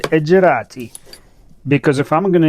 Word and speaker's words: Edg-e-ratti: I said Edgerati, because if I'm going to insist on Shaman being pronounced as Yakutians do, I should also insist to pronounce Edgerati the way Italians pronounce Maserati.